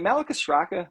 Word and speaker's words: Malacostraca: What as far as for is it Malacostraca? Malacostraca. Yeah. So okay. I was never pronouncing it wrong.